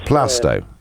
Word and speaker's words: Plaistow: Yeah, Carl in Plaistow. Good morning, Carl. Plasto is pronounced. Plastow.